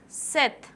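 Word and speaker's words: sept: Sanka six C's seven said don't pronounce pop eight wit we'd start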